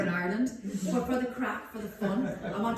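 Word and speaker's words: craic: the word crack yet it's an Irish word it's from the Gaelic language c-r-a-i-c is how it's spelled so your AIC and it's pronounced crack and it means fun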